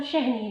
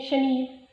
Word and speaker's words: शहनील: मेरा नाम शहनील है। बहुत से लोग इसको प्रोनाउंस करते हैं शनील, शनीला, ये और बहुत से अल्फाज में सुनने में आते हैं। शहनील का मतलब है कीमती और शनील का मतलब है कपड़ा।